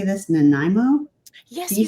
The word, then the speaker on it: Nanaimo: Nanaimo? Yes, DC? you said it. Good for you. Oh, yes. Nanaimo.